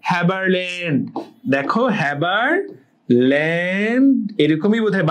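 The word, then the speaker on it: Haberlandt: হাবারল্যান্ড নামটা শুনে হাবার মনে হতে পারে, হাবা, বাট হ্যাবারল্যান্ড।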